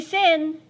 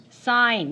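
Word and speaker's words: sine: Don't say sin. Say sign.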